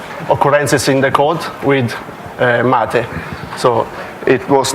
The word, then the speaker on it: MATE: I will start with pronunciation it would be hard for non-english speaker because it's Matty the name come from South America and I up the